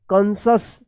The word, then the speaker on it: conscious: CONSCIOUS क्या पढ़ेंगे कंसस, कंसस पढ़ेंगे कंसस, ठीक है।